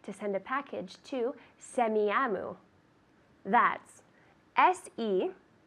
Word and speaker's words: Semiahmoo: I'd like to send a package to Semiahmoo. That's SEMIAHMOO. Semiahmoo. Let's see. Semiahmoo. Good. Semiahmoo.